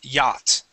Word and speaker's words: yacht: So class, the CH is silent here. The word is yacht.